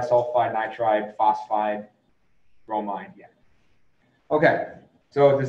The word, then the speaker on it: phosphide: it's not oxidized nitride it's not phosphoride it's phosphide sulfide um carbide yeah